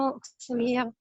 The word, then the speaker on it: auxiliaire: فعندنا وكونكسيون واتصال كلمة كونكسيون برضو فيها ويكس وبننطقها بالاس كونكسيون اوكسيليير.